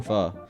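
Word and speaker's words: phở: I had chicken pho, which is not as good as regular pho, I'll be honest, but it's still pho.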